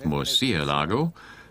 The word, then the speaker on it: Murciélago: Murciélago, there's an accent over the E, so it's Murciélago.